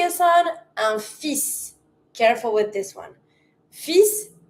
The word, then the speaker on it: fils: This one, in the word son, you're going to pronounce the s, but you're going to avoid the l. So, we're going to say un fils.